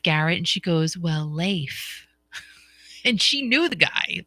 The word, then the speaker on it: Leif: like you're thinking grammar I'm thinking it's Leaf that's that's what I'm thinking and that's what I've always called him but I have to say Leif that's how that's how you say it you say it Leif Garrett but he never he